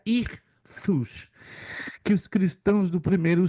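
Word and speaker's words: ἰχθύς: acróstico histórico olha só a palavra grega irus se escreve istos mas como é grego se pronuncia irus que os cristãos do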